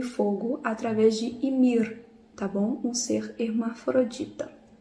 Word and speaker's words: Ymir: fogo, Ymir, o Ymir, eu esqueço do R, que eu acho que a pronúncia correta seria Ymir, ele deu origem a muitos seres, né?